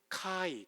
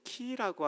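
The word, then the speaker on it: χ: 이거는 X가 아니라 이 크리스토스 할 때 이 첫 번째 알파벳 카이 또는 키라고 하는 알파벳과 영어를 합해 놓은 거예요.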